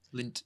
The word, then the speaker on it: Lindt: Is that how you pronounce it? Lindt.